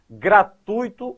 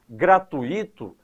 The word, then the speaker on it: gratuito: Gratuito é a construção correta e sem acento. Quando você pronuncia de maneira equivocada gratuito, a tendência é colocar um acento porque aí forma um hiato.